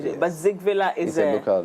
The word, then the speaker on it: Zingvilaa: It's actually Zingvilaa. Zingvilaa. So the G should come. Zing. So it's not a silent.